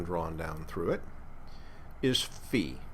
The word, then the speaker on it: phi: down through it is fee not not phi this is c not psi this is fee not phi phi and it's probably